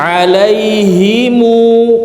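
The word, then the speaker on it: عليهم: Alaihimu, mu panjangan dua harokat.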